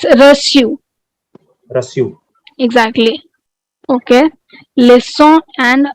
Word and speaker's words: reçu: Rusu. No, it's reçu.